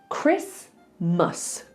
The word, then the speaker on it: Christmas: But a lot of people do say Christmas or Christmas. So all you need to remember is it's Christmas. Don't say the T, okay?